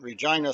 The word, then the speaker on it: Regina: And Regina, Saskatchewan, that's how you say it.